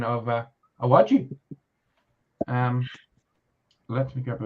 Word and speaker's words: Iwaju: yeah has another one which I'm gonna probably butcher the name of I want you iwaju hey wedgie thank you Tom for the professional pronunciation of uh awachi um let me grab a little bit more